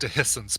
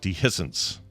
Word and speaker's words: dehiscence: It's pronounced dehiscence, by the way. Dehiscence. Okay. Dehiscence. Yeah. Dehiscence. It's a schwa for the E.